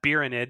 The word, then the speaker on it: Beeranid: That's why I'm Beeranid, because it rhymes with Tyranid.